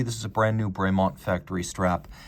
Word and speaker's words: Bremont: So technically it would be Bremont. It would not be Bremont, but that is the anglicized pronunciation and the official one.